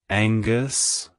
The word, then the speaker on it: Angus: strength it's pronounced as Angus Angus Angus to pronounce it correctly emphasize the and and soften the G keep the emphasis on the first syllable like hello Angus goodbye